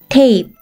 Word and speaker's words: tape: 다음 단어 E는 발음이 나지 않고 T는 T, A는 A, P는 어떤 발음이 나죠? 맞아요. P. 한 번에 읽으면 tape, tape.